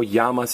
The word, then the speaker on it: llamas: Even though llamas is spelled LL, a double L is pronounced Y.